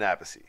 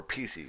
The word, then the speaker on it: Appice: Legendary drummer Carmine Appice. Yeah. Or PC, however you want to pronounce this Whose shit.